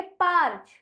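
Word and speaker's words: parch: ए आर सी एच तो इस शब्द का उच्चारण हम करेंगे पर्च पर्च अब यहां पर हमने कौन से टॉपिक्स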